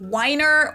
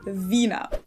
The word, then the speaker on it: Wiener: With the German W being pronounced like in English V. Wiener. Mostly and the of course, W. It's not Weiner or Weiner, but Wiener. Let's not forget our little mnemonic device here.